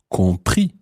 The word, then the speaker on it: compris: And that irregular past participle is compris. Compris. Compris. Compris. Now, compris is spelled C-O-M-P-R-I-S.